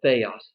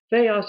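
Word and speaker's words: θεός: What the Greeks call the theos thing. Theos or theos. It's just 2 different ways of pronouncing the Greek words here, and they're both okay.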